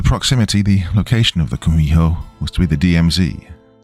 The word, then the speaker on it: Kumiho: In Japanese, you've probably heard of it as Kitsune, though in Korean, it's pronounced Kumiho.